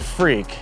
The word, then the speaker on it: FREK: of time you understand in Japan they say FR for front engine rear drive and then it's an EK so f-r-e-k that's where the name came from and it's kind of a freaky car so we just dubbed at the freak essentially it started because